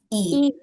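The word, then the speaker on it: 이: Can anyone pronounce this? A e. We say it as e.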